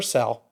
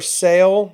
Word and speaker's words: sale: I mean, for sale versus for sell is wrong.